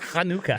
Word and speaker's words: Hanukkah: It's pronounced Hanukkah.